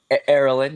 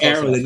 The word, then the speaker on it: Erolin: Did I pronounce it right? Erolin, yes, sir. Close enough. Erolin, yeah, my bad.